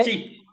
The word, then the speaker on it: he: sería Sí, de He. y Correcto, he. H, he. sí. Se pronuncia como si fuera J-I.